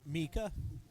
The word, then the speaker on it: Mika: It's pronounced Mika. I can never remember. Mika. Like Meeka, Mika.